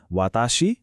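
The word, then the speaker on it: は: तपाईले ह अक्षर देख्नु भयो होला हैन लेख्दा खेरि त यो हा हो तर जब यो वाक्यमा पार्टिकलको रुपमा आउछ यसको उच्चारण हा होइन वा हुन्छ।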